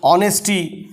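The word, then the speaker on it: honesty: ध्यान से देखेंगे तो इसका उच्चारण प्रोनंसिएशन ऑनेस्टी अ से है ऑनेस्टी एच तो एन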